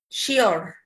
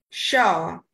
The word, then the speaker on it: sure: one is shaw well many bangladeshis say it as sheer sheer but is not the correct way of pronouncing this word here and it's correct pronunciation will be like this show she'll show like this